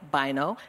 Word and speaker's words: Bynoe: Bynoe. That's at Bynoe. That's B-Y-N-O-E. The E is silent.